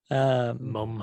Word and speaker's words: mum: Oh, I was just saying mum Oh yeah. because they say it like instead of an O, it's like a U.